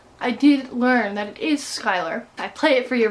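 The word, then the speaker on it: Schuyler: the last name I did learn that is Skyler I play it for you right now we can we mustn't do it together skype my sister yet let's go do it one more time Skyler sisters yeah misfits it spells shooting Schuler chew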